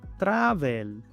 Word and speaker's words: travel: Muchos pronuncian esta palabra travel. La A se pronuncia EA. La V se pronuncia como una F suave. La E es muda. Y la L se pronuncia como OL. Travel.